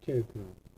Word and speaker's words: char: CHAR 이거를 차라고 읽으면 안 돼요. 무식한 거예요, 그거. 이거를 차 그렇게 읽으면 아주 무식한 거니까 여러분 절대 그렇게 읽으면 안 돼요. 뭐라고 있냐? 얘는 캐릭터라고 있습니다. 캐릭터. 그래서 문자형은 캐릭터를 쓰자는 거예요.